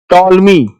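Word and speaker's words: Ptolemy: Now next is टॉल मी। B silent है।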